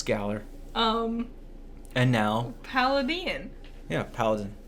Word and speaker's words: Galar: Galar. Galar. It's Galar. I've heard it both ways. No, it's Galar.